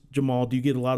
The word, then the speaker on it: Jemarl: spelling of your name it is Jamal yes um as a Jeff with a G that gets mispronounced all the time I understand sometimes that people don't want it to be just the the most common pronunciation but it is just Jamal do you get a